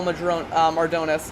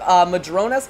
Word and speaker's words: Mardones: Getting a good run off the corner and around Inigo Mardones. I kept pronouncing it Madrones before, and I kind of got to get out of that.